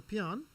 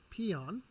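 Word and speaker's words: paean: A peon, pronounced peon, peon, was in ancient Greek.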